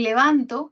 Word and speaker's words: levanto: A nivel de sílaba, la sílaba to es la tónica en levantó la mano derecha y en levanto la sílaba tónica es van.